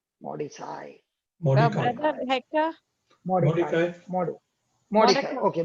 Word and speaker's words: Mordecai: Mordecai.